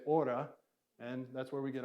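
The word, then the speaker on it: ὥρα: this word is aura it actually has the rough breathing so in kind of a traditional pronunciation you put an H on it so but we're going to say Ora and that's where we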